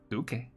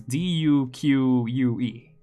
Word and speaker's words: Duque: Duque. Creo. I think so. Right? I think it's the exact same word. It's just pronounced with a Spanish accent.